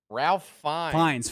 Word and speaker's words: Fiennes: Ralph Fiennes. Fiennes, not Fiennes. Yeah, sorry, Fiennes. Ralph Fiennes is the guy who lives down it's not the road.